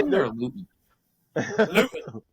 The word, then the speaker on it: Luton: Luton. It's Luton. That's the right pronunciation.